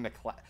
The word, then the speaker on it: MacLeod: you pronounce that name Kevin MacLeod that's an odd way of pronouncing it because it's spelled odd e OD either or